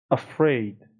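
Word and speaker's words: afraid: به ترسیده سراسیمه هراسان تلفظش م دقت کنید اولش آ نمیگم یا ا ا ا نمیگم افرید افرید افرید این فونتیک اولی که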